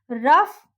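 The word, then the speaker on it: rough: वो वर्ड्स क्या है देखिए, रफ, कफ, टफ, इनफ। यहाँ पे जो GH है उसको हम घ प्रोनाउंस करेंगे, घ, ठीक है।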